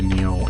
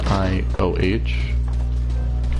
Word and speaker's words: Nioh: I think I'll play Neo in my off time. I think that's how that's pronounced. It's Nioh.